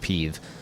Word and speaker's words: PEve: Then I was like, "Oh my god, PVP, even though it's pronounced peeve."